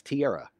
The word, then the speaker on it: Tiara: i mispronounced the name her name is pronounced sierra but with a t so that's tiara and i apologize tiara